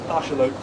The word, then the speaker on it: axolotl: Yeah, no one pronounces the Z, do they? Zingu. So no, it's Shingu. And yeah, Axolotl is Arshamot.